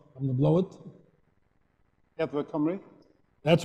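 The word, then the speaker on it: Amgueddfa Cymru: In 2010, he joined, you have to pronounce this for me in Welsh, I'm going to blow it. Edward Cymru.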